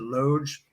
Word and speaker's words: loge: not in the loads is that you pronounce it Lodge yeah um I moved over it Center loge with a buddy middle